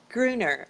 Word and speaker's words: Gruener: you say your last name at Gruner greener okay Hylton greater today thank you yeah